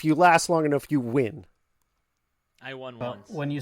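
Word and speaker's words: Nguyen: artist and programmer doug neugen maybe under it's probably win it's it's usually pronounced win n-g-u-y-e-n it's usually pronounced i'm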